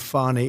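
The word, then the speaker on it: Fani: treated you very unfairly she goes by the name of fonnie even though it's fa n i she wants to pronounce fonnie she's little little French little French accent and her lover and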